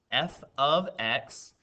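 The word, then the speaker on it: f(x): like an f times x but it's actually pronounced f of x equals 5x plus 11 and the command says find f of 2.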